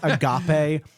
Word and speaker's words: agape: It's agape. It's not the word.